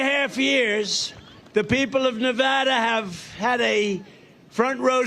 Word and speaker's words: Nevada: and you always have to say it correctly Nevada you got to call it Nevada with thousands of proud hardworking americ Patriots and